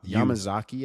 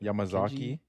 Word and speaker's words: Yamazaki: But yeah, Yamazaki, I think is what Yamazaki.